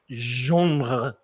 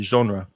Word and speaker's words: genre: right next one and this word i think comes from french genre but in english we'd probably just say genre and it's the kind